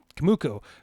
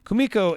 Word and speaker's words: Kumiko: uh is uh uh how do i keep saying her name wrong uh kamuku kumiko is uh fantastic in